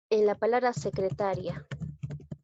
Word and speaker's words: secretaria: Secretaria, pero en este caso no hay tildación disolvente porque la que suena más es la sílaba ta, no es la i.